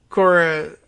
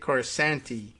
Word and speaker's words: Corasaniti: The tweet from Nick Corasaniti. I thought it was Nick Corasanti, and I think I hear that name pronounced that way once in a while, but it's spelled Corasaniti, Saniti at the end.